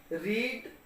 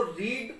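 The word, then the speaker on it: read: रीड इन तीनों form के spelling एक जैसे हैं, लेकिन इनकी प्रोनाउंसिएशन जो है वो डिफरेंट है। इसको रीड पढ़ेंगे, और रीड का मतलब होता है पढ़ना। रेड इसकी सेकंड फॉर्म है, और रेड इसकी थर्ड फॉर्म है।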